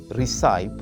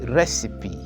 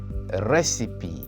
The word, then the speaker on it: recipe: hear many teachers say recip or receip but the correct way of saying it is recipe can you repeat after me recipe the stress is on the first syllable recipe word number three